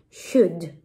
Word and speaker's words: should: La L no se pronuncia y pum, magia, nos entienden. Should. Si la L no pronuncia, pasamos a la D. Should.